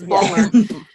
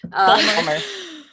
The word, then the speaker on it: Baltimore: No, if you live in Baltimore, you don't pronounce all those letters either. It's Balmer. Balmer.